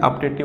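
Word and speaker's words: optative: ठीक है, इसकी जो प्रोनाउंसिएशन होती है अपटेटिव होती है, आ से बोलते हैं अपटेटिव।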